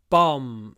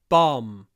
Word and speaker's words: bomb: very stretchy the bomb bomb and you need to open your mouth it's not bom it's bomb open your mouth bomb didn't explode the